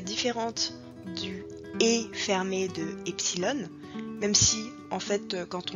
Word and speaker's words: epsilon: cinquième la death et le epsilon qui va se prononcer et comme dans été mais qui va s'écrire